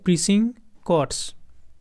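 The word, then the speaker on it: precincts: As Calcutta slept, uncle and Nephew crossed Howrah bridge and went beyond the সিটিজ প্রেসিং কর্টস। উচ্চারণটা হবে প্রিসিং কর্টস।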